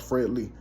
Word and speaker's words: Fred L33: If you go look up Fred L33, it's pronounced Fred Lee, So Let's Go.